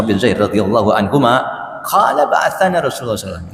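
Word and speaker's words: بَعَثَنَا: An Usamata ibni Zaid, dari Usama bin Zaid radhiyallahu anhuma, qala ba'athana Rasulullah SAW. Ini membacanya hati-hati. Kalau dibaca ba'athna berarti kami telah mengutus. Tapi ba'athana, dia telah mengutus kami.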